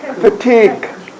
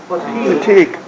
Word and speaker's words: fatigue: k fatigue fatigue Right.